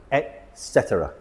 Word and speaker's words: etc.: Usually we see it written as etc, but we pronounce it etc.